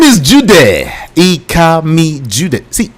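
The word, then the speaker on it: Ikami Judeh: And don't forget, on social media, I am Ikami Jude. It's spelled IKAMIJUDEH.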